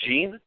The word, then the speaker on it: Jean: in and is it gee how do you pronounce justice of course French it's Jean yeah okay yeah how are you guys today